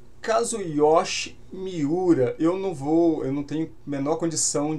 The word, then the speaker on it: Kazuyoshi Miura: O Kazuyoshi, inclusive em japonês eu vi a pronúncia, eu acho que é algo mais perto de Mira, Kazuyoshi Mira.